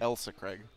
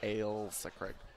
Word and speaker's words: Ailsa Craig: Alisa Craig I got there on my own Elsa Craig no it's Alisa creates III LSA yeah that's what it is but it's pronounced I I yield so Craig I will say Craig I gilsu Craig Ailsa Craig alright who's asking the questions here all right